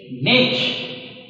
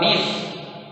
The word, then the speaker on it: niche: have to study habitat this is niche or niche you can pronounce it either way in ecosystem the